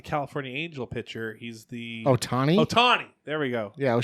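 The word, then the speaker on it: Ohtani: he's not the California Angel pitcher he's the Otani Otani there we go yeah is pretty close well what's his first name it's like sha Otani right O'Shea Otani probably it's probably Marty o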